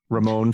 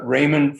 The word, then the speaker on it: Raymond: under um Ramen Froman Ramon Froman the pronunci ation is was Raymond Froman.